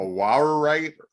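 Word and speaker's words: awaruite: A Wawerite, how is that how you pronounce it?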